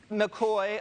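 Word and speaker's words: McCaughey: This is from Betsy McCoy from the New York Post, the only newspaper that I read every single morning. McCoy, I'm sorry, Betsy. That is the correct pronunciation of her name.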